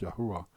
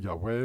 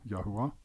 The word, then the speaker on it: Yahua: verse en bewyse dat Yahua se naam word uitgespreek Yahua. Ek weet daar's mense wat sê Yahweh maar dit is nie akkuraat nie. Die regte uitspraak is maar Yahoa.